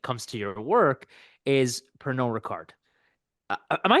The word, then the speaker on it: Pernod Ricard: But of course, what I'm interested most about when it comes to your work is Pernod Ricard.